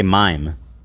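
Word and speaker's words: מים: How do you say water in Hebrew? You would say mime.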